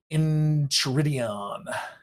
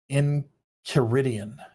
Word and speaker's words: Enchiridion: Is that how you say that word? So this is the deal when you're reading almost everything your entire life, right? Let's see, pronunciation. It's key. Enchiridion. Enchiridion. Now I know.